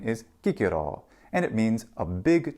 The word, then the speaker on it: Cicero: in ecclesiastical Latin but in classical Latin there is no cha the letter c is only a C Sound and thus his name is Kiko and it means a